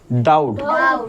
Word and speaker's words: doubt: हुआ डेट और यह क्या दिया हुआ है डाउट क्या दिया हुआ डाउट दिया हुआ है और